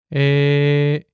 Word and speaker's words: 에: A plus E makes E. Listen closely to this pronunciation. 에, Here's an important word that uses this vowel.